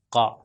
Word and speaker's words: ق: جا رہا ہے اور اس کو موٹا ادا کیا جاتا ہے تو یہ ہو جائے قا قا۔ تو اب میں اس کو کرتا ہوں زبر زیر اور پیش کے ساتھ، آپ دیکھیے تلفظ قا قی اور قو۔ اگر میں اس کو کہوں کا کی کو تو یہ دوسرے والے کاف سے مل جائے گا، تو اسی لیے یہ